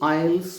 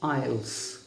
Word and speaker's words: aisles: याद रखिएगा AISLES, इसके प्रोनाउंसिएशन को भी समझ लीजिएगा। इसको हम आयल्स पढ़ते हैं, आयल्स।